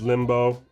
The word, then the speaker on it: Limbo: So that's how it's pronounced, as Limbo.